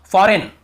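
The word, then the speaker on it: foreign: फॉरेन, बहुत लोग फॉरेन ऐसे पढ़ते हैं, मतलब याद रखने के लिए ऐसे फॉरेन ऐसे बोल देते हैं, लेकिन हमें बोलना नहीं है। लिखते समय हाँ आप गलत पढ़ के लिख सकते हो, लेकिन आदत ना पड़ जाए कहीं आपकी। फॉरेन ऐसे नहीं पढ़ने में, फॉरेन पढ़ने, यहाँ पर भी जी साइलेंट है।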